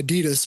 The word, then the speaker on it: Adidas: As I would say, Adidas, because I put my emphasis on Adidas, a different syllable.